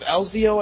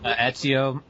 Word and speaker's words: Ezio: No, he does the voice of Elzio, I think you pronounce it, Elzio? Ezio in Assassin's Creed 2 and Chris Redfield in Resident Evil 5.